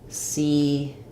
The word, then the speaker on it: secret: So for secret, even though we have two E's, this one says is stressed and it says a true vowel E. So we have C, and then this one will be reduced. It'll sound more like an I sound. So I would write that like secret.